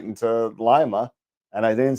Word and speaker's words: Lima: Every time I say Lima, I think the bean. Lima, I think Peru. Yeah. Well, the Lima bean is the city's mascot too. There you go. That's a good way to remember the pronunciation then.